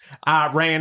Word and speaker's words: Iran: in Iran and now the Strait of Hormuz and throughout Wait, say Iran again.